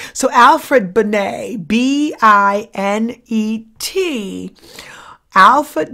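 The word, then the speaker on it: Binet: and it is spell it looks like it's banette but it's french so it's pronounced bonnay so alfred benay b-i-n-e-t alfred benay i want you to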